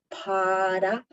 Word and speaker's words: para: If you don't know how to roll your R's, you can say the word para. Kind of sounds like a D.